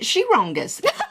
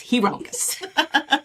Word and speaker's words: Hirongus: Men tend to pronounce it Shirongus. Indeed, it is Hirongus.